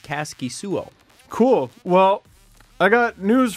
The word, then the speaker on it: Kaskisuo: Caskey slow or sOooo wife on on twitter has the pronunciation and she says it's Caskey soooo cool well I Got